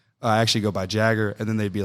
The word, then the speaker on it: Jager: And then I'd be like, I actually go by Jager. And then they'd be like, Jager. And I'm like, I just said Jager.